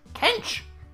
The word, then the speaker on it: Kench: Kench? The name that rhymes with stench.